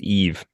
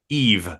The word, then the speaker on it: Yves: I think it's just Eve. Eve Montand, which she that's a word that's always bugged me.